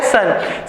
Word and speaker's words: CERN: और ऐसा क्यों है ये, क्योंकि फ्रेंच में इसे प्रोनाउंस इसी तरीके से किया जाता है, सन।